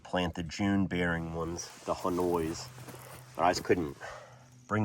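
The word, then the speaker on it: Honeoye: For example, here's one that is Hanoi. I think you pronounce it that way. H O N E Y O Y E or something like that.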